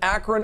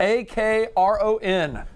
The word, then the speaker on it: Akron: a ministry some friends of ours up in akron ohio the akron fossil center and museum a